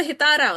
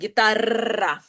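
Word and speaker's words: guitarra: Вони, ми кажемо просто гітара, у них прям гітара, прям так от експресивно гітара.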